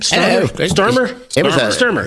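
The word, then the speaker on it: Starmer: How do you pronounce his name? Sturmer.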